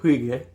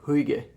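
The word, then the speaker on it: Huyghe: in it this is brewed in belgium by the brewery huige i think i'm pronouncing that right i literally looked up how to pronounce it like a minute ago it's h-u-y-g-h-e huige i think now uh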